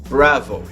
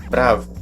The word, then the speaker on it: bravo: pronúncia dessa palavra pois algumas pessoas tendem a puxar pronúncia pelo lado inglês da força então às vezes a pessoa pronuncia na fonia bravo ou alguma coisa assim então nesse caso pessoal não é necessário você está voando aqui no brasil você pode pronunciar normalmente pronúncia da língua portuguesa falando apenas bravo certo então vamos para